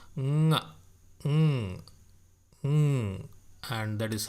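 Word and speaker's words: ಙ: Okay, the root consonant is pronounced as nga. Nga. Okay, nga. So it may sound funny, but that is how it is pronounced.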